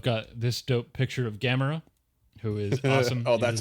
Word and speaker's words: Gamera: So I've got this dope picture of Gamera, who is awesome.